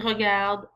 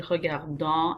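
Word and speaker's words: regardent: so it becomes il regarde and elle regarde. Notice how I pronounce that. It's not il regardant, elle regardant. The ENT is very silent. Il regarde, elle regarde.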